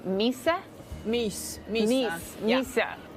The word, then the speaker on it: mys: this year guys apparently it's all about Swedish Misa take a look T the season as temperatures